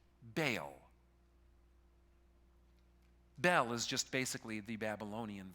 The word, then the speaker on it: Bel: find in the Bible, pronounced Bel. Not like Belle, like in Beauty and the Beast, all right? B-E-L.